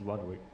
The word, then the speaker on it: Ludwig: Are we saying his name wrong? People are saying Ludwig. Carol? Or is that a meme? It's Ludwig.